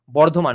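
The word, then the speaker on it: Bardhaman: know the non-bengali people bird one is the British pronunciation the name is actually the place of the name of the place is actually Bordan okay so named after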